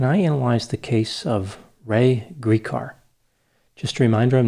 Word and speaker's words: Ray: Today's question is, can I analyze the case of Ray Gricar?